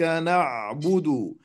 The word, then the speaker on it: نعبد: فالمعلومة الأساسية أن الحرف الساكن وقته أكثر من الحرف المتحرك، فنقول إياك نعبد. لو رأيت أن النون وقتها أقل بكثير من حرف العين، وكأنك وقفت لحظة على حرف العين حتى تستطيع أن تنطق به من مكانه الصحيح.